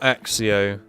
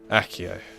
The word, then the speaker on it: accio: need to learn these we really need to learn accio not axio accio and I know they